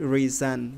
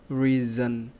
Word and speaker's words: reason: Not reason, we read reason. So letter S here, it sound like letter Z, sound reason, okay?